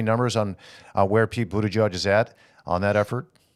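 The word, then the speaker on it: Buttigieg: did criticize uh uh Pete Buddha judge I think is how how he likes to pronounce his name yes for coming to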